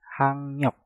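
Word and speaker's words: 학력: Giok yang ada di kata hak kita rubah menjadi ngieng dan realnya kita rubah menjadi nien. Maka cara pengucapannya menjadi hangnyok, hangnyok, hangnyok, hangnyok.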